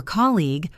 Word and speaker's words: colleague: For colleague, remember that your colleague is at college. Same start.